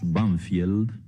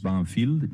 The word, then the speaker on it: Banfield: suburbios de Buenos Aires que nosotros pronunciamos banfield pero que tiene un nombre inglés banfield y ese nombre inglés